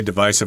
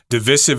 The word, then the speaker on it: divisive: got the word divisive I say it that way divisive I think that's your preferred pronunciation but divisive is also commonly used yes it just means